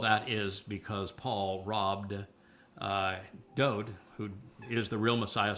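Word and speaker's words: דוד: It means beloved, and his name is pronounced Dode. And there is no V in Hebrew, and there's no source of the id in the name until centuries after Dode's life.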